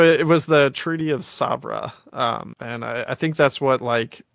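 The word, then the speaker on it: Sèvres: also doing hardly anything Severus which I'm pronouncing that I'm totally butchering that pronunciation I think it's actually like hardly anything Sabra because it's French okay sorry we do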